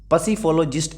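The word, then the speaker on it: psephologist: next देखते हैं भाई 1257 इसको है ना पी साइलेंट है इसमें पर फिर भी पसीफो सॉरी पसीफो जिस्ट पसीफोलोजिस्ट ये बोलना इसको चुनाव विश्लेषक जो चुनाव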